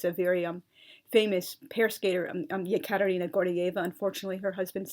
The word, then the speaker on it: Yekaterina: When it makes sense, I render the E as Y, so as to avoid pronunciational confusion. For example, why use the spelling Ekaterina when the name is really pronounced Yekaterina? Or again, why have a